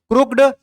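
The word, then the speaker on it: crooked: उच्चारण इसको कैसे करेंगे, क्रुक और हाइफन लगा के, ऐसे हाइफन बोलते हैं इसको, क्रुक्ड हाइफन आईडी, क्रुकिड, क्रुकिड उच्चारण होगा लेकिन क्रुक्ड पढ़ाएगा, ठीक है।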